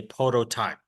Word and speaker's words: prototype: can use okay so you can pronounce Pro prototype or prototype but typically in America we say prototype now who is this